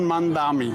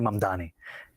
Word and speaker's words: Mamdani: I'm running against a man named Zoran Mandami. He's a socialist. If you can respond to that and tell us how you say it, your full name. Zohran Kwame Mamdani.